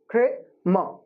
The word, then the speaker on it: Kramer: Okay, so there are just two syllables here, Kramer. I'm not saying mer, I'm saying Kramer.